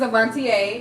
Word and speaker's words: Avontea: My name is Avantier. If you don't know how to pronounce it, there you go.